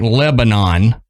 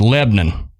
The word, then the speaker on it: Lebanon: It's spelled like Lebanon, but it's pronounced Lebanon.